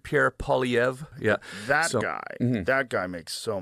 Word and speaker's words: Poilievre: Poilievre? Well, it's French, so it's I don't think he's French, but the name's French. Pierre Poilievre.